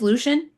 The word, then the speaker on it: Lucian: I want to say Lucian because of freaking Underworld, but anyways. that's how they said it on the Audible. Oh, it is Lucian?